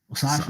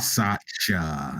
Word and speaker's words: Satya: Sasha, that's how you say it? Yeah. So that's how you say it? Wow. It's like Sasha.